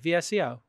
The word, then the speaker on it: VSCO: VSCO. VSCO. I'm just telling them how to spell it. It's VSCO like disco without the I.